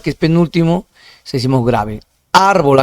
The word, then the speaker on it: árbol: Árbol, acá está en el rojo, pero sí, acá es en la sílaba ar, que es, me equivocaba en ar, que sería ese con rojo. Acá hay que rectificar, ¿no? En todo caso, árbol sería una palabra grave donde la sílaba más intensa es en ar, ¿ya?